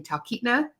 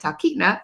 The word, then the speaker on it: Talkeetna: are looking for information about visiting Titna, that's how you say it, Titna, Alaska during your Alaska trip maybe in 2026 or 2027.